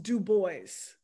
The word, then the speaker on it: Du Bois: have no idea when and why it is pronounced dubois speculation has that he often said something around